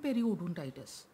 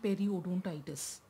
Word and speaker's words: periodontitis: Remember I told you, gum disease or the periodontal disease includes both gingivitis and periodontitis. So first, let's learn how to pronounce gingivitis and periodontitis. Gingivitis. Periodontitis.